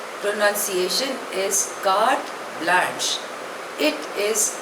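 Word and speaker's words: carte blanche: एल ए एन सी एच E pronunciation is काट blush it इज अ French word दो it's literal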